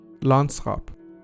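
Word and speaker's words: landschap: into English in modern Dutch is pronounced as Lance hop meaning the condition or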